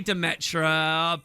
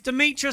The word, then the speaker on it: Demetra: Uh they say Demetra, but come on guys, Demitra sounds so much cooler, doesn't it? We talk about my pronunciation of stuff on this show all the time, but come on, Demitra sounds so amazing.